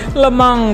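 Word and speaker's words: Le Mans: Lemang 24 hours sesuai pronunciation orang Prancis. Bukan lemans ya, man.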